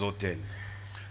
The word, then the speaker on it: autel: Les autels. Ce mot autel, il s'apparente à l'autre autel qui se prononce de la même manière, mais celui-là qui